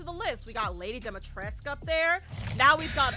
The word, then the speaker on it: Dimitrescu: If y'all had Lady Dimitrescu, yes, that's how you pronounce it, Lady Dimitrescu.